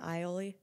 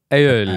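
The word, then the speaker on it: aioli: love a garlic aoli oh is that how you say aoli yeah oh not ioli aoli I love let us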